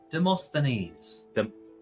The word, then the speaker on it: Demosthenes: Demosthenes.